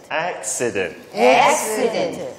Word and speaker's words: accident: 오케이, 그래서 쉬 발음보다 엑스 약간 시 C-I 해서 accident.